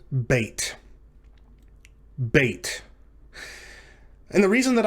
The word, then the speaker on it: bet: again this is the letter bait and it's pronounced like the letter b in the english word boy for that reason it